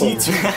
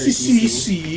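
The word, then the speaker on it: C.C.: C2. C2. What do you mean? CC? CC. Oh. That's how her name is spelled, but she's called C2. It's annoying when people call her CC.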